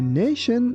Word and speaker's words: nation: Here be careful that t i o n sounds like shen. So be careful not to say nion. That is why we say nation.